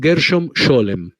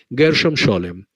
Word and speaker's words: Gershom Scholem: místicos judíos o cabalistas más importantes, que es Gershom Scholem. Se escribe G-E-R-S-H-O-M y separado S-H-O-L-E-M. Gershom Scholem.